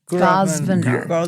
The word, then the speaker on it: Grosvenor: Grosvenor. Grosvenor. Yeah, Is what it I sounds mean, like. It's a silent S.